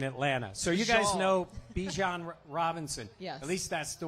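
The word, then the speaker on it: Bijan: of us said, but she said it is pronounced Bjon. Bjon. But that just sounds too weird. So, we're going to say Bejon.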